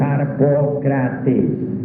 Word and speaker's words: Harpocrates: Los griegos se adormecían concentrados totalmente en harpocrates y pronunciaban su nombre así, Harpocrat.